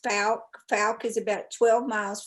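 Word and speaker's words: Fouke: It's actually pronounced Falk.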